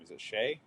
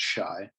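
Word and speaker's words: Shai: of surrounding Giddy and Shay shy I always mispronounce his name is it Shay yeah I always say today but I could see the comedians pronouncing it Shy yeah you know uncultured but um I'm curious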